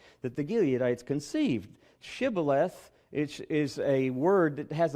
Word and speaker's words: Shibboleth: Can you say the word Shibboleth? Well, unfortunately for a lot of the Ephraimites, for apparently 42,000 Ephraimites, they could not pronounce the word. They would pronounce it Sibboleth. They couldn't get the H sound and instantly were killed on the spot.